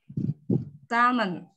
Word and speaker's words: salmon: L-nya yang kita hilangin.